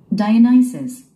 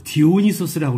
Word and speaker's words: Dionysus: Dionysus. Dionysus. 여러분들 BTS 좋아하시죠? BTS의 유명한 히트곡 뭐 디오니소스라고 그러죠. 디오니소스. 우리 한국인들은 디오니소스라고 하는데 네이티브 발음은 그렇지 않죠? Dionysus. Dionysus. Dionysus. 그죠? Nysus. Nysus 그러죠? Dionysus.